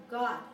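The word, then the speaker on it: Gad: the hebrew yehuda reuben god and that's not this god but that's how you pronounce god asher naftali levy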